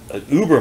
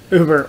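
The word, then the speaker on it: Über: Uber or Uber, as you pronounce it in the original German.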